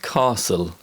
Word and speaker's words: castle: the t sound and there are many common words which contain the silent letter t such as listen and castle in american english the